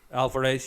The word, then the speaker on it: Alvarez: I know the director, Fede Alvarez, hope I'm pronouncing his name correctly. Alvarez, yeah, has stated that it's set in the same universe as the original.